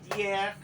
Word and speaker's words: tiers: Troisième ordinal, tapi dalam bentuk ordinal lainnya ada tiers, tiers. Dalam bentuk jamak, tiers, tiers. Diucapkan R-nya ya.